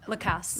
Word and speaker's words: Lacasse: I'm sorry, how you pronounce it? Lacasse.